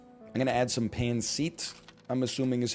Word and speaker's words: pancit: I'm going to add some pancit, I'm assuming is how it's pronounced. And you know what? Some mapo tofu. Just a nightmare menu. Oh, there's beef Wellington on there? Next time. It's pancit. Sorry, pancit.